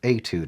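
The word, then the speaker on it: étude: page 12 we have number 27 this octave etude and that's how you pronounce that word etude and etude is simply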